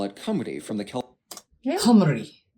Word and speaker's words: Cymru: walla, meaning foreigner, while the Welsh call it cumry, from the Celtic word for country. It's also in this how do you say that? meaning foreigner, while the Welsh call it Cymru from the Celtic.